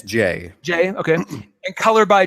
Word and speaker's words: Jae: I haven't yet figured out how he pronounces that name. I believe it's Jay.